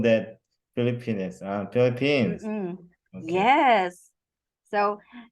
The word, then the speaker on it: Philippines: And lastly, for the pronunciation, just one word. How do we say that, Mr. Zhang? Philippines. Okay, Philippines. Philippines. Okay. Yes, because it's really funny when we say Filipinas.